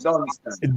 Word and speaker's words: Dunstan: Not Dawson, Dunstan. Dunstan, you know what I Dunstan. mean? But you see, coming from Newtown, just like you, we never call you Dunstan, you know.